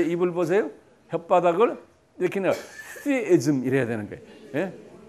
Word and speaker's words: theism: theism. 이빨 사이에 혓바닥을 갖다 대고 그냥 부는 거예요. 그게 th 사운드예요. monotheism 그런 거예요. theism인데 the이에요. 그대로 보면 때인데 아니 I 발음을 해요. 이 I를. 그래서 theism 그래요.